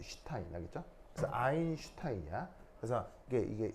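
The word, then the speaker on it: Stein: 독일어에서 ST, T가 뒤에 T가 붙으면 S가 쉬 발음이 나요. 쉬 알죠? 요 발음. 그래서 얘 읽을 때는 어떻게 읽냐면 슈타인이에요. 슈타인 알겠죠?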